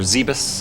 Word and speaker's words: Zebes: And once we get into Planet Zebes, however you want to pronounce it. Zebes, I like it. Yep, that's what I do. Zebes or Zebus, I like Zebus.